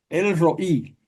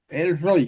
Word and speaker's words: El Roí: Séptimo título, el roí. El roy, casi todo el mundo dice el roy, pero en hebreo el asiento va en la i.